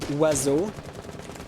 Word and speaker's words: oiseau: In French, the word oiseau has 7 letters, and there's not a single letter that's pronounced the way it should be. Bomb located by Right, attackers. genre, oua. An O makes the O sound, but you pronounce it oua.